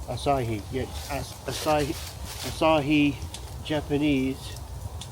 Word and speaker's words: Asahi: Asahi? Asahi, yeah.